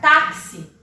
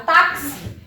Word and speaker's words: táxi: Mas quando eu pronuncio a palavra táxi, o meu K, ele tem som, o meu X, ele tem som, perdão, de K, S.